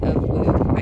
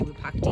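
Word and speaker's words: Wupatki: This is part of the ruins of Wupakti. I always say it wrong because I say Wupakti, but I think it's Wupakti.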